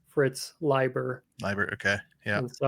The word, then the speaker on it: Leiber: I think I used to call him Lieber. I think Leiber is the appropriate pronunciation.